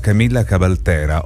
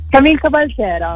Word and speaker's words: Camille Cabaltera: Siamo collegati, in questo caso adesso la presento, con Camilla Cabaltera o Camille Cabaltera. Mi correggi se sbaglio, già dal nome? Camille Cabaltera, ecco, sì, vabbè, quindi comunque ho indovinato in parte con la pronuncia.